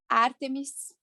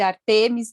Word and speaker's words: Ártemis: Hoje nós vamos falar de Ártemis. Tem gente que chama de Ártemis, tem gente que chama de Artemis, tem uns que tem acento, tem uns que pronunciam sem acento, mas enfim.